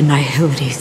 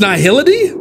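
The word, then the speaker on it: Nihil: sorry hold on also wait I've been saying it wrong it's n Hill or n n Hil that is the first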